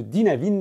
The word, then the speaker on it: Dynavin: pense de ce système de chez dynavin ou Dynavin si t'as envie de le prononcer à la française en plus des atouts